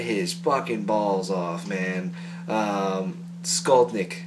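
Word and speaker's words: Skolnick: Fucking Alex fucking Skaldner, he can shred his fucking balls off, man. Skaldnik, sorry. Pronounced that wrong.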